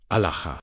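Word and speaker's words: ܐܠܗܐ: The Aramaic word is Alaha, pronounced Alaha. The first syllable opens like a breath. The second rises LAH, as if calling upward toward an infinite sky.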